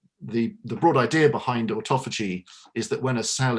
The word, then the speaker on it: autophagy: And is that because we are using this term now, orthophagy? I'm having trouble pronouncing it. Autophagy. Autophagy.